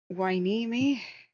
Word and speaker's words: Hueneme: My pronunciation guide. Hueneme.